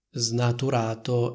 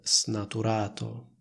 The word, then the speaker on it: snaturato: più la stessa cosa come vedete io pronuncio snaturato e non snaturato un altro esempio potrebbe